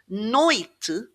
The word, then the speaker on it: noite: When we're faced with just two word two syllables, sorry, it's going to be stressed on the first syllable. So, noite actually has two syllables.